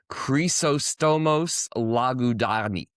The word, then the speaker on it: Chrysostomos: The correct pronunciation is Chrysostomos Lagudakis. So it's Cree at the beginning. It's Cree at the beginning because it's Greek.